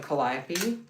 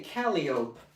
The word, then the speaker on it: Calliope: And the only discussion we had, the only question they asked me was, how do you pronounce Calliope? And I said, Calliope.